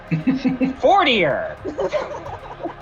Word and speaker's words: Fortier: It's really important to him that everyone knows that he is more 40 than any of them. I mean, that or just fucking that's just how his name is pronounced.